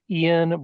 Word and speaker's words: Iain: with me today is Ian and that's the Scottish spelling spelled i a i n but still pronounced I